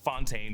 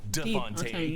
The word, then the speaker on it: de Fontaine: Val corrects Congressman Gary on the pronunciation of her name. It's not Fontaine, but De Fontaine and mentions the Secretary of Defense as Anderson.